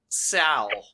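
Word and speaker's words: Seoul: Many foreigners say Seal when it's pronounced to be more like Sal.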